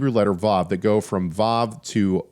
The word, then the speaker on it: vav: It is believed by many scholars that the vav used to be pronounced with a wa sound. So, it would be wow instead of vav. Whereas it shifted in modern pronunciation now says vav with a v instead of a w.